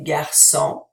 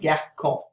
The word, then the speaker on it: garçon: Par exemple, répétez garçon. Again, if I didn't have the cédille, it would be pronounced garcon.